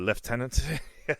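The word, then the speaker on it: lieutenant: Uh, left tenant.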